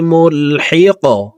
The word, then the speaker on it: ملحق: إن عذابك بالكفار ملحق কফ কলকলার হরফ উপরের দিকে ধাবিত করে ধাক্কা দিয়ে কফকে সাকিন করব দেখুন এইভাবে উচ্চারণটি করব ইন্না আযাবাকা বিল কুফারি মুলহিক প্রিয় দর্শক আমি এখন